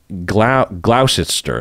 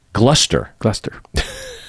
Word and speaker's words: Gloucester: So Gloucester is probably how it's pronounced, right? Gloucester. Gloucester, like Worcester, right? Yeah. Gloucester.